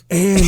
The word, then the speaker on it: Fire: So it's spelled fire. Yes. And it's pronounced Andy.